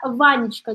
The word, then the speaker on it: Ванечка: Ванечка, здесь у нас три слога, и получается следующее.